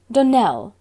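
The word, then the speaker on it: Donnell: would set it right Danelle Accent on the last syllable and sent Claire on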